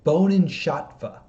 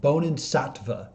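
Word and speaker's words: Bodhisattva: she is taken and i want to make sure i say this word right i just double checked how to say it bonin shatva nope double checked how to say it bonin satva vows a bonan satva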